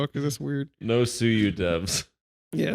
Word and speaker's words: suyu: Fork of Yuzu called suyu and it already got taken down see that yeah don't don't hire those that's weird no suyu devs yeah it's corny is it called suyu because like they think